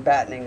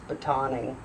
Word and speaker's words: batoning: Now, I think I might have been pronouncing battening wrong. I was pronouncing it like battening the hatches. I think it's batoning.